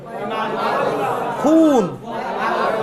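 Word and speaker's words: خون: এরপর যদি খুন, খুন ওয়াও এ মারুফ, খুন উচ্চারণ, খুন এরকম, খুন, খুন মানে রক্ত।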